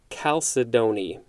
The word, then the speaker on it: chalcedony: correctly one moment so according to the pronunciation guide for c-h-a-l-c-e-d-o-n-y it looks like there's at least one two three four f maybe five different ways that you can pronounce it so i'm just gonna go with calcidoni because that looks like it's one of them all right moving on